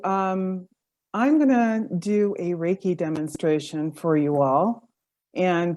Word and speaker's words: reiki: we know great so reiki is a modality that's born out of japan reiki is spelled r-e-i-k-i and rey means universal life force and key is energy and so basically a